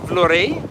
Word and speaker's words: Vlorë: The historic part of Vlorë, I wanted to call it Vlorë because it has an umlaut or 2 dots over the E, but locally they seem to be pronouncing it Vlorë.